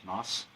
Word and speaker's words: Knaus: How do you pronounce his name? Knaus.